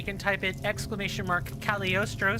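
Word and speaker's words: Cagliostro: look at it again c a g l i o s t r o calostro the G is almost s silent almost it's like um it's like saying Lee Le in Italian it's a it's like a an and it's like a start to a word um in Italian and that g is kind of like the G in baloney you you almost don't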